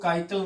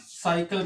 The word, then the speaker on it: cycle: ठीक है, इसको काइकल नहीं बल्कि साइकिल पढ़ना है, सी से प्रोनाउंस कर रहे हैं।